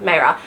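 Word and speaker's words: Maehrer: Hanna Nicole Maehre, not Vera, Maehre, because that fit the like YA fantasy.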